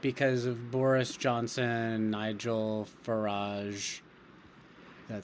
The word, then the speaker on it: Farage: We're upset because of Boris Johnson, Nigel Farage. That's how you pronounce it.